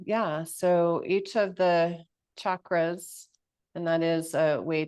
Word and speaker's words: chakra: when a teacher says chakra like chak instead of chakra so a CH in Sanskrit is pronounced check so I'm G invite